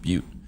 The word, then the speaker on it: Butte: It's pronounced Butte.